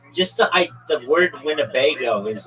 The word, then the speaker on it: Winnebago: Just the I the word Winnebago is like funny. It's wingo. It's four um syllables.